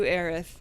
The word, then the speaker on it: Aerith: yeah i do a tifa and i do aerith for the remake that's true and you pronounce it aerith so good oh thank you